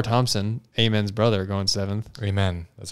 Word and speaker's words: Amen: Amen. That's how it's pronounced.